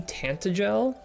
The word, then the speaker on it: Tantegel: Taint Eagle. I'm pretty sure it's supposed to be Tantagel, but I like to say Tent Eagle.